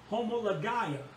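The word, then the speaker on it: homologia: word and this word here is homoly homology homologaia homologaia and this word is spelled h-o-m-o-l-o-g-i-a homolo homology and this word means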